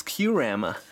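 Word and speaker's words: Kyurem: a really cool card grove wild dragonair onyx qrama i already have this but people are going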